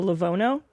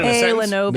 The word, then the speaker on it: Lenovo: A Lavono?